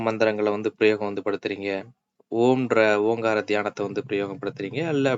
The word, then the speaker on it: ஓம்: இப்ப வந்து ஓம்ன்ற பீஜியம் பாத்தீங்க அப்படின்னா இழுத்து வந்து உச்சரிக்கணும். ஓம் அப்படின்ற மாதிரி வந்து இழுத்து வந்து உச்சரிக்கணும்.